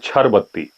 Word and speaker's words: Chir Batti: डरते भी हैं और उसको बोलते हैं छर बत्ती स्पेलिंग लिखते हैं चिर बत्ती सी एच आई और बत्ती मेरे पीछे